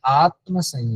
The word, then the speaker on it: आत्मसंयम: आत्मसंयम आत्मसंयम योग। आत्मसंयम योग। आत्मसंयम योग। बहुत सारे लोग कहते हैं आत्म संयम योग, आत्म नहीं, आत्मसंयम योग। अच्छे से उच्चारण, आत्मसंयम योग। और 7म उपदेश, 7म अध्याय